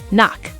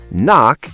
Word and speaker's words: knock: If you see KN at the start of a word, the K is always silent.